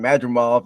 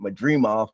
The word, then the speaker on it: Madrimov: Bud Crawford versus Israel I heard them pronounce it two different ways uh Shawn por was calling madof and uh Todd grin was calling Madre off but I'm just gonna say madof it went to distance